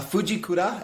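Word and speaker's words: Fujikura: have the Fuji could had a Fuji CUDA and that is how you say it shaft in them um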